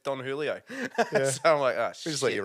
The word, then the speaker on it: Don Julio: yeah totally forgot that the J is silent or it's more like a h yeah in Aussie language so it's actually Don Julio Julio Julio yep uh